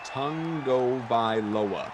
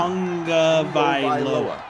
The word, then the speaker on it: Tagovailoa: But there's no like N there, so it always like, are we really pronouncing it correctly? Yeah. Or is this just the way we've all decided it sounds? No, I've heard him say it. Tongue, like a tongue in your mouth.